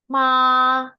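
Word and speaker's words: mā: contohin aja ya ee nadanya datar dan panjang. Jadi kayak huruf do. Nah, eh kayak huruf kayak e nada do ya. Nah, ini cara bacanya ma ma datar datar dan panjang ya. Jadi seperti do.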